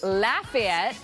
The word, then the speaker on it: Lafayette: same name it's spelled the same but they're pronounced differently so let's look at the word today l-a-f-a-y-e-t-t-e all right so what city are we saying